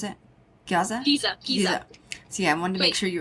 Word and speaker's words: Giza: And they claim that there is, underneath the Great Sphinx of Giza, is that how you pronounce it? Giza?